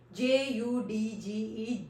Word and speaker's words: judge: If DG comes together in any word, then we always drop D.